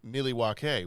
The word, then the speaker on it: Milwaukee: In fact, Milwaukee is actually pronounced Milwaukee, which is Algonquin for the good land.